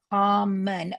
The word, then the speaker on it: common: It could be come on, but I could say flex the second O to a schwa, and they go common.